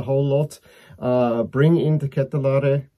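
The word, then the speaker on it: De Ketelaere: lot uh bring in the catalari that's the comes from the name itself uh man himself that's how he pronounce it i think even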